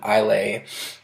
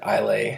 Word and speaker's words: Islay: found but this one you know is from Islay that's how you pronounce it I'll a it's an island off the west coast of